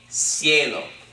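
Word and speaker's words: cielo: is a diphthong yay ciello okay but the reason that we pronounced the C with an S sound is because as an I coming after it okay but if we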